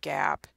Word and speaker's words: GAAP: our accounting system so GAAP is what we call it yeah phonetically it's not correct should be probably something along the lines of Gabe but GAAP GAAP generally accepted accounting